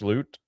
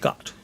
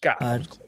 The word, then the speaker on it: D'Amaro: uh what's his I'm going to get his name wrong again. Um Mhm. the new president. What's his name again? Josh Loot? Is that right? Josh D'Amaro. Josh D'Amaro.